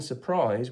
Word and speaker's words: surprise: catches me out is when we say the word prize on its own it's a zed because it's a z sound at the end but in surprise we must remember that this split val die graph is actually splitting an s so that's another one